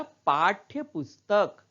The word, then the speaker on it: पाठ्य पुस्तक: उसी तरह पाठ्य पुस्तक, पाठ्य पुस्तक। तो यहां ठ के नीचे हल लगा है इसलिए ठ का उच्चारण थोड़ा कम हो रहा है, आधा ही हो रहा है।